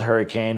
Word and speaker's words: Hurricane: It's spelled hurricane for those of you that don't know, pronounced hurricane. One of those local things, kind of like Louisville, Kentucky.